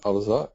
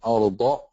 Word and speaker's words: الأرض: Like a lot of you just pronounce Alam Naj'alil Arza. This is actually a dad. So you say Alam Naj'alil Arda Mihada.